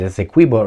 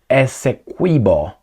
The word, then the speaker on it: Essequibo: would like that particular Essequibo, that's how I pronounce it, Essequibo region, to become part of Venezuela.